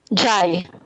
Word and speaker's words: JHY: Is it Jihe 27? Oh, United Kingdom? Oh, never mind. You know those Jeeps are just JHY. taxis that say. It's what? Jai. Oh, Jai. Jai, sorry.